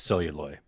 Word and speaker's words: Celluloid: All right, so if I'm pronouncing it, it's Celluloid. I think most people have said it that way, but And I go by, like.